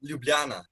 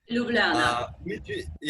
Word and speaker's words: Ljubljana: The capital is called Ljubljana. Ljubljana. Which is kind of, I think only Balkan people know how to pronounce it correctly, because it's.